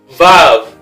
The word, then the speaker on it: Vav: Vav, which is the sixth letter, or Wa. It's Wa. Used to pronounce as Wa in ancient times, but the modern Hebrew changed to Vav.